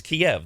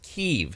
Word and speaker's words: Kyiv: It's the capital of Ukraine, which when Ukraine was under Russian rule before it was annexed was always Kiev.